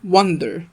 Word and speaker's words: wonder: أما التانية wonder، كأنك بص شفت بداية التانية كأنك بتقول 1 بالإنجلش اللي هو رقم 1 1 من غير مد. الأولى wander والتانية wonder، تمام. فخلي بالك في الفرق بالنطق بينهم.